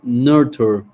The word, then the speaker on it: nurture: And I say nurture, nurture, ¿Cómo se escribe? Nurture. nurture. Uh-huh. Termina en Nurture. nurture. Uh-huh. Nurture. Nurture. Todas las palabras que terminen con ture son chair.